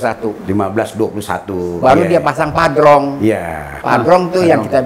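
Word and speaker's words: Padrão: Tulisannya Padrau, bacanya Padrong.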